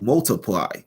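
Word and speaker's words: ÷: Sheeran's second studio album is pronounced Multiply, was released worldwide on the 23rd of June of 2014.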